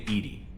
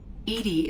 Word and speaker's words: EDI: why are you named edie edie is the phonetic pronunciation of edi that is an acronym for enhanced defense intelligence where are you my